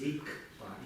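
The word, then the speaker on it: རིག་པ: Здесь рикпа или рикпа. Рикпа. Через К.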